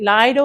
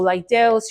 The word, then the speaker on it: Lidl: I pronounce it littles. I know some people pronounce it Lido or Lidl's.